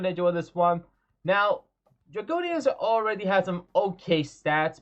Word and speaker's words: Dreggodyne: Hey, app, how do I pronounce its name? Dreggodyne. Okay, Dreggodyne. Okay, that's how you pronounce it.